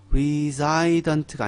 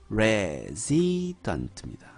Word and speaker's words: resident: 그런데요, 거주민으로 해서 ent가 붙은 reside 뒤에 nt가 붙은 것은요, 발음이요, resident가 아닙니다. resident입니다. resident. 동사로 쓸 때는 reside. 명사로 쓸 때는요, resident.